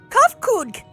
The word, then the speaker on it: Kafka: As for nomenclature to address my individual person, I believe it would be pronounced cuff. Yes, Kafka.